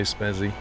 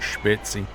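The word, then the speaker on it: Spezi: Well, that's the name there, S-P-E-Z-I, so obviously in England we would say Spezzy. In Germany they say something like Spitzy.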